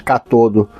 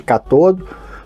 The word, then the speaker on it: cátodo: chamava isso aqui de catodo. Mas são palavras proparoxítonas, então todas elas são acentuadas e tem a sílaba tônica na primeira sílaba e o ânnodo, que é o positivo.